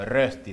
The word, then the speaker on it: Rösti: Y una de las comidas típicas de Suiza es un plato que se hace a base de pap, que se llama Rösti, o Rösti sería la pronunciación.